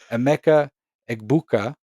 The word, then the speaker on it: Emeka Egbuka: We're referring to Rodgers' namesake over here, Emeka Egbuka out of Ohio State.